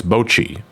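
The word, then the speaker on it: Bocchi: But I don't know how to pronounce that show. It's the anime, right? The one with the anxiety girl. Oh, it's Bochi.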